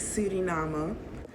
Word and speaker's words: Suriname: The right pronunciation for that is Suriname.